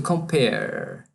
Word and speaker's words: compare: Esse E final do verbo, ao escrever, ele não é pronunciado. É como se terminasse no R apenas. To compare.